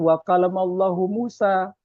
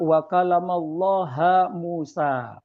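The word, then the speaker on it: وكلم الله موسى: Tapi ada sebagian orang yang kemudian dia membacanya bukan wakalamallahu Musa tapi apa? Wakalamlaha Musa. Dan Nabi Musa mengajak berbicara kepada Allah.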